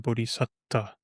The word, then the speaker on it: bodhisatta: bodhisattva, a being who is aiming for awakening, is not a bodhisattva, but a bodhisatta.